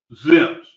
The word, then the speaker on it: XXIMS: But that's why we use ZIMS spelled with a Z, because X is sometimes pronounced as a Z in the English language.